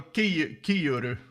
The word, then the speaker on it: Kiuru: Ah, Finnish guy. Then it's wrong pronunciation. Joel Kiuru. Don't kill me. I'm Swedish. Finnish is hard.